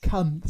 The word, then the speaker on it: Cunth: Cunth. C-U-N-T-H, is that? Yes. Spelled the same as the naughty word, but with a H.